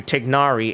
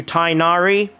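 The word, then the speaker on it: Tighnari: in the Arabic language I can't say it properly but it's closest to tignari in English how that gets changed into tinari I don't really get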